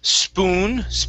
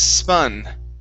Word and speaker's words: spun: Here instead of spoon around, this is spun.